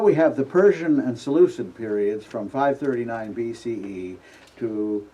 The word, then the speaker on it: Seleucid: and that's known today with a softened K as a C as the Seleucid Empire.